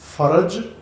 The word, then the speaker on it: فرج: فرج اسی تلفظ کے ساتھ فے کے اوپر بھی زبر اور رے کے اوپر بھی زبر پڑھنی ہے. فرج، یہ تلفظ مشق کر لیں، کوئی حرج نہیں ہے.